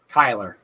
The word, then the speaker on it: Cuyler: It's Cuyler. Cuyler. Just like Cuyler with a K, but it's spelled.